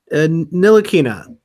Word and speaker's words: Ntilikina: This is an easy name to say according to Basketball Reference. Okay, just work with me here. Ntilikina. You got it. Ntilikina.